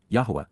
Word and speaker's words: Yahowah: Right from the beginning, Tchila at the point in time when this started and from the first, Yahwa, Yahwa, the proper pronunciation of YHWH, spoke, communicating, dabber, verbally expressed using words to convey, peel, perfect.